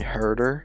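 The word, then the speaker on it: Huerter: that is going to be on Atlanta Kevin herder that's how you say his name he's been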